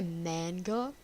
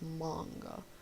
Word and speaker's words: manga: So, some people say manga. That's completely fine. But that's just not how it's said. Like, you can say it like that. I'm not judging you. I'm just saying it's not called manga. It's manga. Because it's a Japanese word.